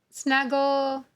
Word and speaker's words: snuggled: Snuggled, snuggled, snuggled. In the word snuggle, the E is silent. When you add the ED, you drop the silent E and add the vowel suffix, ed, past tense ending.